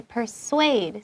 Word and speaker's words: persuade: We say persuade. So yes, it's the same as like kind of an SW sound, even though it's a SU.